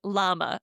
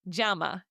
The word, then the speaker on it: llama: Okay, in English you might say llama. Okay, if you want to pronounce the word llama, the animal correctly that you might see wandering around your picture. Okay, the correct way you pronounce it which is written double L A M A, you would say jama. Instead of llama, you say jamama because that double L makes a J sound.